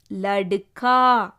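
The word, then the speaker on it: लड़का: கவனிங்க, கால வந்து பாரக்கடி வந்திருக்கு. இக்குன்னு ப்ரனவுன்ஸ் பண்ணக்கூடாது. பாரக்கடி வந்தால் பாரக்கடி தான் ப்ரனவுன்ஸ் பண்ணணும். ல ட கா, லடுக்கா.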